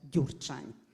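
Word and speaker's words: Gyurcsány: or lie speech of mr dur chime that's how you should pronounce this crazy name occupy the wall street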